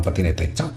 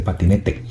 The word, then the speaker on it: patinete: estás y pasaron una patineta aquí no se dice patinet se dice patinete entonces pasaron un patinete